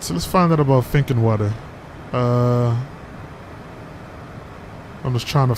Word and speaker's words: Finkenwerder: never heard of this place before so it's pronounced thinking word water think thinking water all right so let's find out about thinking water uh i'm just trying to find something that's